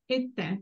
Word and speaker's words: tè: Caffè e tè, the accent falls on the last vowel. So the last vowel, whenever we see the accent at the end, is pronounced very briefly. The sound is very brief.